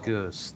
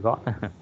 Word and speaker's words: goods: Em đọc là goods, chứ không phải got.